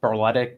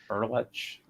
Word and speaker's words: Berletic: Well, it's ordinarily it's Berletic, but the proper Croatian pronunciation is Berlech.